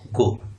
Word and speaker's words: goe: यहाँ पे GOE को प्रोनाउंस करना है गो।